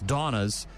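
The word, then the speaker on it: Dawna's: And he just recently did this with a mom-and-pop beef jerky brand out of Texas called Donna's Jerky, and it's spelled D-A-W-N-A''S, Donna's Jerky.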